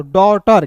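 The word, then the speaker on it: daughter: डॉटर कैसे टी का ड ए यू है तो इसका उच्चारण औ के रूप में जी एच टी है तो ट लिखेंगे और इ आर है दोस्तों तो र लिखेंगे क्या हो जाएगा दोस्तों डॉटर ठीक ना डॉटर सर पढ़ते हैं ना?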